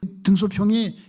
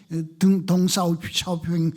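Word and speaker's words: 邓小平: 등소평이 덩샤오핑 중국 발음으로는 그렇죠.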